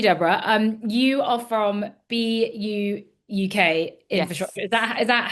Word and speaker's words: BUUK: Um, you are from BU UK Infrastructure. Is that Is that how you pronounce it?